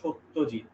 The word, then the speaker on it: সত্যজিৎ: নন বেঙ্গলিদের উচ্চারণে স এর মতো, সত্যজিৎ রায়, ঠিক আছে। বাঙালি বাঙালি বলবে সত্যজিৎ, তালব্যস্বয়ের মতো।